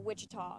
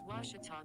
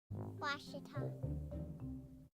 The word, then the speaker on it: Ouachita: for washida baptist university back in texas everybody pronounces it wichita but really it's ouachita washington washington how would you pronounce it it's washita baptist university get it right it's watertall people it's wachata washita here in the bottom of the fifth tigers